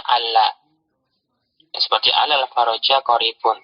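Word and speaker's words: عَلَّ: Karena kadang lam pertama pada kalimat la'alla itu dihapus. Jadi nanti dibacanya alla.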